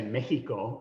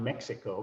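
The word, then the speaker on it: México: That X in Spanish is pronounced as N, as a J, as an H in English. And in fact, the Spanish say Mexico, not Mexico, because of that.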